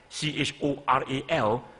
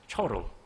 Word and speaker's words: choral: So if a student look at CHORAL, then they probably will pronounce as choral. But if you know phonetic symbols, then you know that it should be choral.